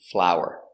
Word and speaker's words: flour: doing very good next we have flower and flower they are pronounced the same it's a beautiful flower